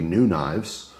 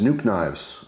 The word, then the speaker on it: NuKnives: So today we're looking at a new brand called literally New Knives, right? It's spelled N-U-K-N-I-V-E-S.